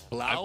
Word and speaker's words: David Blau: Wait, David Blau? I've heard that. I've heard the name, but how do you pronounce it? As in cough. Okay, gotcha. I don't know that one. Blau like cow. Blau like Everybody cow.